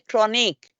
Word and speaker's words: chronic: pronunciation of medical term sometimes it's a chronic it sounds at the end like K chronic but spelling is C so this you have